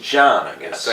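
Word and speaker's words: Can: He says his C-A-N is pronounced John, I guess. He said introduce yourself, and I swear to God he said John. So C-A-N is John in Turk, whatever.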